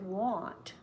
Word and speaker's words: want: oh so that we don't think you said want want is more open want want W is